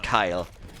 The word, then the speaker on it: Kale: I mean, Kale takes him down eventually. I guess we pronounce him Kyle. Every single time I pronounce him Kale, I cringe a second later, and I'm just like,